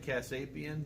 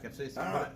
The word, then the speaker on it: capsaicin: How do you pronounce it? Casapian? The Casapian. Yeah, the the- Casapian. the whatever it is. It's Something like Casapian, whatever. oh yeah, capsaicin.